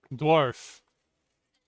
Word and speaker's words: dwarf: Remember the British English pronunciation. Dwarf.